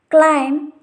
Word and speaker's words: climb: The first condition is B is not pronounced after M at the end of a word. If you see the examples, cum, thumb, climb, crumb, lamb, etc.